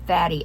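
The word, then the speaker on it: Fadi: I I see f the way they pronounce his name is fatty f a d i fatty sorry He is so tall and so handsome.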